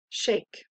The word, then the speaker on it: shake: We have a silent E pattern. Read your word. Shake.